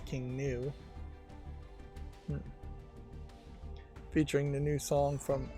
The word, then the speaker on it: King Gnu: It's probably not King GNU. GNU is a computer programming way of pronouncing that. This is probably just new, is pronounced in a Western tongue, probably just as King New.